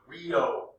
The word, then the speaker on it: griot: until the 20th century each king had a griot this word here is pronounced grio a grido is an oral historian